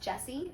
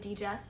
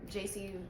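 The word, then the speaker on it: Djesse: I keep calling it DJs volume 4 but I looked at what that word means and they said it's because it sounds like the artist's initials which are JC so he just wrote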